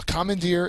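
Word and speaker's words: commandeer: very often used uh Commander is a verb the third syllable is the accented syllable it means to seize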